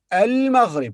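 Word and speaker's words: المغرب: so but not pronounced we pronounce it when we start with it if you say al-maghrib okay but here we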